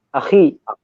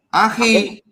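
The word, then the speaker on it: أخي: Kalau di bahasa Arabnya itu jadi apa, Mas? Akhi. Akhi.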